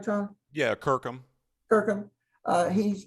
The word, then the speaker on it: Kirkham: So now, Tom Kirkham, am I pronouncing that right, Tom? Yeah, Kirkham.